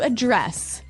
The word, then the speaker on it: address: The verb address has the the stress on the second syllable.